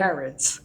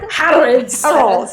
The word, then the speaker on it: Harrods: them in their Harod's van to like Harrods. Harrods. That's a department store in London. Yeah, I I know. I just don't know how to pronounce it. Harrods. Yeah. Harolds Harolds to like this like James Bond music.